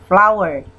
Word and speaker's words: flour: Tulisannya flower, tapi kita bacanya seperti baca kosakata bunga, flower. Cara bacanya bukan flower, tapi flower.